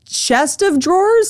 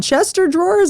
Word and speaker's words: chest of drawers: Wait, it's chest of drawers? It's not Chester drawers?